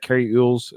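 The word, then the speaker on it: Cary Elwes: thing to say that Carrie EES uh is how you say his last name Al or Elway Al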